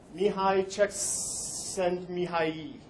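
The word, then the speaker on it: Mihaly Csikszentmihalyi: Mihai Csikszentmihalyi. Yay. Is how you pronounce that. And for further proof that there is everything on the internet, there was a 6-second video of someone pronouncing this name. It made my life so much better. 'Cause if you look at that, that is not what I just said. There's silent letters all over the place in there.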